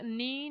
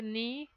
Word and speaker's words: knee: groups of words here knee knife knot and no here in all the four words K is silent okay even though K is written here we are not pronouncing it we say knee knife not and no